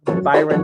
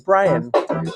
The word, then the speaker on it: Bryon: brother to Byron Tyrone it's not Byron bla it's Brian you guys are doing it again they're doing it again ACC they're saying his name wrong the second uh attorney says Byron no no no no no it's Brian b r i a n